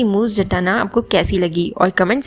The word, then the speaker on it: Moose: खैर, कुछ लोग कहते हैं कि मूस के नाम की प्रोनाउंसिएशन मूजे है, बट नहीं, उनका नाम मूस जाटना ही है।